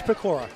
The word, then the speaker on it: Pecora: Is it Pecora? Excuse me, I mispronounced it. It is Pecora. My bad. Like Decora. Sure. Pecora, it's okay.